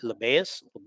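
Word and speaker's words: Labas: people want joey liberty lebayes is how you say his name a lot of people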